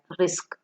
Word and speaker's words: RISC: Simple instructions achieve more efficient pipelining processor that use simple instructions are called reduced instruction set computers and pronounced as RISC.